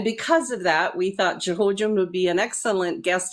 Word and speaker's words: Xhojin: It's just Xhojin, X pronounced like a Z, like xylophone or Xerox or something. So just Xhojin.